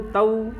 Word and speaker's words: तौ: यश्चैनम, यहाँ चै है तो आई का ही उच्चारण करें। उभौ तौ में औ है तो उभौ और तौ दोनों में औ का उच्चारण करें।